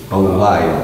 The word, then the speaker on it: Belial: Belial, that's three syllables.